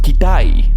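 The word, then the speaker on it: Китай: The Russians, that are also descendants of the Scythians, pronounce China as Kitai. And all those words are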